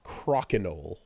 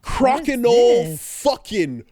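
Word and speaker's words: Crokinole: I have gotten into a new game called Crocenol. Okay, how the do I spell that?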